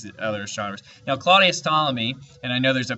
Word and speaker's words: Ptolemy: other strawberries now claudius ptolemy and i know there's a p there but you don't pronounce the p it's silent claudius ptolemy was the most famous